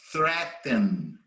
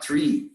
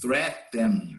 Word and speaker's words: threaten: resolve, say, seem, tend, threaten. Observe the pronunciation. It's not tree, it's threaten.